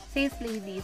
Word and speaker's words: Sace Lady: So ang right pronunciation sa kanya is Sis Lady.